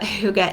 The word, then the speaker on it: hygge: right so now that we know how to pronounce it maybe not everybody knows what Huga is but now we at least know how